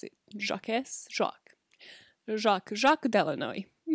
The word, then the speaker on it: Jacques: what is the french version how do you pronounce it jacques jacques jacques jacques de illinois that is definitely